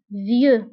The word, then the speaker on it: vieux: jeune عجوز vieux vieux بالنسبة لفيو كنكتبوها بإكس في آخر الكلمة لكنها لا تنطق vieux ذكي intelligent intelligent غبي